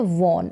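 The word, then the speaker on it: won: फिर यहाँ पर है आई, ये है वॉन, इसको वॉन करके भी इसका उच्चारण होता है और वन करके भी इसको पढ़ा जाता है, जैसे हम ONE वन पढ़ते हैं वैसे ही दोनों तरीके से आप प्रोनाउंस कर सकते हैं।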